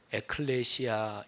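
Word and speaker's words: ἐκκλησία: 그 개여 칸다 4 교회가 에클레시아 인데 하나님의 나라는 바실 a 아 이렇게 발음합니다 에클레시아 바실 내 이야 이게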